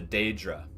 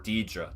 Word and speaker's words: Daedra: Like in Elder Scrolls 3, the Dunmer worshipped the Daedra, or Deidre, depending on how you want to pronounce it.